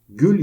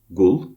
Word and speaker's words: gül: Örneğin gül yerine gul, göz yerine goz diyenlerle karşılaşmışsınızdır.